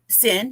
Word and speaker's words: Cyn: sin to the show hello hello am I pronouncing that correct sin yes okay I just wanted to make sure